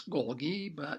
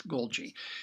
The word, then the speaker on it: Golgi: about is the Golgi apparatus and many people pronounce this Golgi technically it's Golgi it's also referred to as the Golgi complex